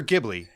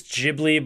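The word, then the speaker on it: Ghibli: is my first studio is it jibli or gibli is it I believe it's jibli but who the hell knows man you know first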